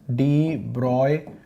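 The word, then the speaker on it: de Broglie: देखिए, तो डी ब्रॉय wavelength, डी ब्रॉय बड़ा मुश्किल हो जाता है यार, हमें तो, मैं तो ब्रॉगली ही बोलता था यार, स्पेलिंग में ही गड़बड़ हो जाए तो इसलिए ब्रॉगली ही बोल लो।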